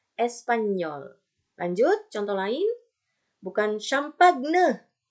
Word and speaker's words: espagnol: Tapi Espanyol. Nah, manis kan? Espanyol. Oke. Jadi dibacanya. Bukan espagnol, tapi Espanyol.